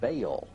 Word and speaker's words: Baal: The word is probably the contracted form of some other Hebrew word, commonly pronounced Baal and spelled B-A-A-L, and he was worshipped by the Babylonians as their chief deity.